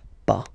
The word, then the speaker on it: pas: Okay, we write it pas, okay, but as usual final s is not pronounced, so it's pas.